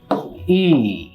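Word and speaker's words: いい: ভালোকে জাপানি ভাষায় বলা হচ্ছে ই। একটু লম্বা করে আর কি, ই। কেউ কেউ বলে ইউই, মানে উচ্চারণটা এইরকম করে উচ্চারণ কেউ করে।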